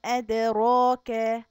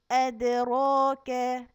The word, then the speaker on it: أدراك: طيب أدراك فيها حرف الدال مقلقل، يعني هنلخلخه شوية ونقول أدا أدا. أدراك حرف الراء مفتوح مفخم، يعني هنخليه تخين ونقول أدرا راك.